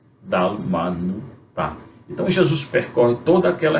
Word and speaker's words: Dalmanuta: Geralmente o acento é na última sílaba, dalmanu, tá?